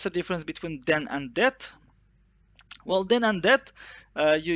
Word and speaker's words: det: So this general eat is det. And of course, I get lots of questions. Do we have to pronounce it or not? It's usually T is usually swallowed, but it's not wrong to say T.